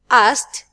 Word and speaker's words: asked: or D or t now in this question here we're asking about pronouncing T which verb that its final Ed is pronounced like t t let's see a wanted asked played needed which one it's a piece of biskuit so easy asked 32 we use space